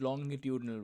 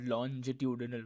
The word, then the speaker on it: longitudinal: Sound, on the other hand, takes the form of longitudinal waves, and it is pronounced longitudinal waves, not longitudinal waves. It's long, not longe.